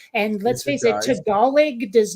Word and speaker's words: Tagalog: we've talked about um Tagalog looks like Tagalog when it's spelled and let's face it Tagalog does not sound like